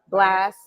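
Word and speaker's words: Blxst: we have how do you say his name blex blast okay yeah blast chris brown giving lucky day the weeknd and blue okay so two of them i don't really know too well which is blast in blue but i've heard of them and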